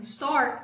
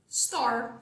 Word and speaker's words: store: nós temos store store terminando com o som de R muito obrigada teacher Agora